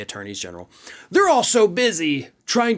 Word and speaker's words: attorneys general: attorneys general right now, which yes, that is how you say it, and I know it sounds weird, but you do say attorneys general, they're all so busy